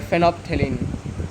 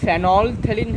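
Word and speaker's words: phenolphthalein: देख लेना फेनो थलन एल साइन होता है ठीक है आप बोलोगे भाई य तो फेनल थन है फेनल थन नहीं एल जो है वो साइलेंट है यह साइलेंट है इसलिए एल का प्रोनंसिएशन हम नहीं करते हैं डायरेक्ट हम क्या कैसे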